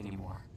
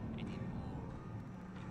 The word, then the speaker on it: anymore: I don't know what to expect anymore. He says anymore. That's American English. British English, you might have anymore without pronouncing the final R.